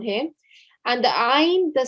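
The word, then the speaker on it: ع: And it's the same thing with the ayn here as well, okay? Ayn and ha, both of the sounds come from the middle of the throat, all right?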